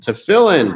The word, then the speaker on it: Tefillin: Tefillin. I pronounced it right.